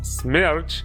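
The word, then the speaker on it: Смерч: Yes, it's pronounced Smerch and means whirlwind.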